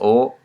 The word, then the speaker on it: を: the transitive verbs now the particle all today is pronounced oh let you type into the W and old boy so we're gonna see what a lot so oh this is the right way to said you said oh ok but you type